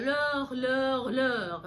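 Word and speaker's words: leurs: خدتوا بالكم ان هي ما بتفرقش في النطق لور من غير اس، من لور افيك اس، لان كده الاس الاخرانيه هي اخر حرف. ف وفقا للقاعده بتاعتنا في اللغه الفرنسيه ان احنا ما بننطقش اخر حرف، فهتبقى لور، مفيش اي فرق، وده بيعمل سهوله جدا في التعبير.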